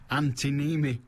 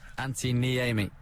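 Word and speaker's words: Antti Niemi: Fulham goalkeeper Antinimi has announced his retirement. I've got an Anti-Am, but I've never had an Anti-Nimi. Do you want a proper pronunciation? Oh, go on then. Anti-Niemi.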